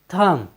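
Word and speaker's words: thumb: उच्चारण का नियम है यदि किसी वर्ड में बी एम के बाद आए तो हम बी का उच्चारण नहीं करते हैं जैसे टी एच यू एम बी थम थम मीस होता है अंगूठा साथियों यहां पर बी एम के बाद आया है इसलिए हमने बी का उच्चारण नहीं किया है हमारा नेक्स्ट वर्ड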